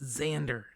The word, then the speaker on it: Xander: what's this one it's xander xander the x is pronounced with like a zed it's xander got it x amanda